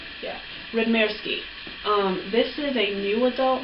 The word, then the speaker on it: Radmirsky: Did I pronounce that right? Yeah, Radmirsky.